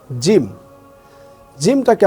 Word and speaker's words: জিম: হরফটা আসবে, এটা হচ্ছে জিম। জিমটাকে আমরা কিভাবে পড়ব? এটাকে একটু শক্ত করে পড়তে হবে। অর্থাৎ আমি যদি বলি জিম জিম, যদি আমি একটু টান দিয়ে পড়ি তাহলে আমার জন্য শেখা খুবই সহজ হবে।